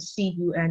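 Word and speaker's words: 寸: So as you see from the text, C-U-N is pronounced as cun, which means inch.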